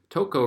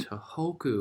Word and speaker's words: Tohoku: Toko region, but it hadn't caused any damage. Suddenly, seismographs began recording powerful new vibrations. It was another earthquake. Let's see how I pronounce those names. Japan, Tohoku region. Tohoku.